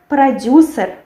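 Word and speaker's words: продюсер: Then we have producer. Yes, producer. We have only u here. We don't have this eu. We have producer. And we write producer with ye, but we pronounced it with e.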